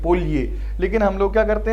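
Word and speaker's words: Polje: पढ़ रहा हूँ ना, एग्जैक्ट इसकी प्रोनाउंसिएशन पढ़ेंगे तो ये यहाँ पे वाई की साउंड देता है ये। ठीक है, स्लोवेनियन लैंग्वेज से आया वर्ड है पोलजे, ऐसे कहेंगे इसको पोलये।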